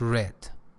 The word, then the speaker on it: read: It's the simple past form of actually uh read which is pronounced red.